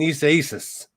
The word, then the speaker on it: Isaias: and said, look, man, you're slurring it. You got to get the pronunciation right. So Hurricane Isaias, I was trying to cut out that little small syllable in there.